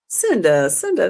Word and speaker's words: Cynda: Cinda, that's all right. And then I was visiting a friend of mine who I loved her mom, and her mom was calling me Cinda.